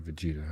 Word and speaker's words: Vegeta: Uh I do have Vegeta. I just didn't spell it right. Yeah, I did V A G by accident. The eg like veggie Vegeta wants Vegeta.